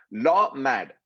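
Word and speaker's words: למד: सिखाना यहां पे हिब्रू शब्द जो है वो है लॉ मैड, LAWMAD, लॉ मैड, जैसा वो प्रोनाउंस करते हैं।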